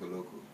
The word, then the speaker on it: Oloko: start from nice okay my name is oloko is spelled o l o k o I am